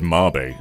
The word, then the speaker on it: Mabe: I used to say Mabe, but then I was called out for it, and apparently in Japanese it said Mabe, so I think that's the actual pronunciation.